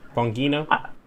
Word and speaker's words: Bongino: okay yes there's don begino there with all his you know wait which i'm pronouncing that wrong how's that supposed to be pronounced bongino i don't know uh